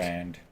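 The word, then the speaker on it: Clorinde: Clarande. I don't know how they should just replace the I with an A. Everybody would have pronounced it properly.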